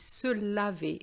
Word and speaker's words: se laver: The next verb is se laver. So be careful. The first one was se lever, and this one is se laver. There's an A, and the pronunciation is different.